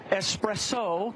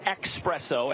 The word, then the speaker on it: espresso: all right it's crystal espresso correct I say expresso as does most of America but you are correct well done New Hampshire